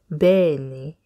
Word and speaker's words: Bẹ́ẹ̀ ni: say just think of the name Ben and you'll be fine you're like Ben Ben yeah so that's a tip Benny well done everyone now